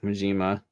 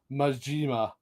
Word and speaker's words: Majima: It's not Majima, it's Majima. Majima.